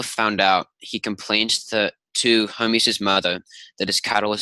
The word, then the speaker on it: Hermes: So Hermes, how do you pronounce it? Hermes is how we typically pronounce it.